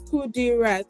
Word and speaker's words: Qudirat: Qudirat? Yes, that's my surname, but my name is Qudirat. Wait, say it again. My name is Qudirat. Qudirat. Yes, Qudirat.